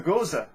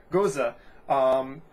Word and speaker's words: Gose: and that is the Gose style. I pronounced it Gose last time, but I've been told that it's pronounced Gose.